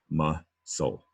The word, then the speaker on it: muscle: Down below, muscle, muscle. That's an open syllable, ma. That is, you might know what an open syllable is. And so it has two consonant S's, that C's an S, to keep that short U sound.